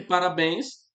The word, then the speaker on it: parabéns: Eu já sei que parabéns, né? A sílaba forte é essa daqui, né? Bens.